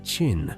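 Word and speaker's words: Qin: The name China itself derives from Chin, pronounced Chin, a lasting echo of his achievement.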